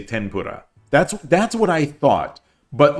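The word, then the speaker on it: 天ぷら: between F and H, and tempura is the Americanized pronunciation. So it should be tenpura. 10, like with an N, tenpura.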